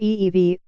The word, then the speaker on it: Evey: he had in mind Mr FV pronounced ee-vie told the author's James